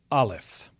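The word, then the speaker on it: aleph: So the first letter is alf. Alf. And this is a silent consonant. It has no pronunciation, which is why I've written NA where it says English equivalent.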